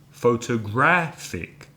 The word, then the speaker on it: photographic: adjective photographic photograph sick four syllables but this time the third syllable is stressed did a dad photographic so listen again to